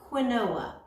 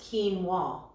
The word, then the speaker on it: quinoa: with a grain called quinoa it looks like whanoa but it's pronounced quinoa as we studied in our nutrition unit we